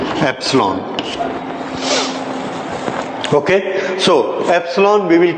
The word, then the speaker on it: epsilon: हाउ इट is pronounced? Epsilon.